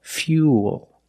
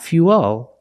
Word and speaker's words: fuel: Fuel. Fuel. Not fuel. Remember, when you link the oo plus the dark L, the mouth opens a little bit, but it's not a real syllable.